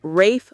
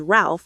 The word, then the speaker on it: Ralph: It's pronounced Rafe Fines and Joseph Fines, but most Americans mispronounce Ralph as Ralph, which makes the connection even less obvious.